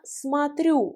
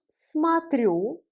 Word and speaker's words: смотрю: Я смотрю, je regarde. Я смотрю. Я смотрю. Я смотрю. Là, voyez le O ici, comme il n'y a pas d'accent tonique, il se prononce A.